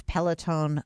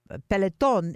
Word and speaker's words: Peloton: disciplined spinning on his pellet own bicycle peloton is how you pronounce it in espanol and isn't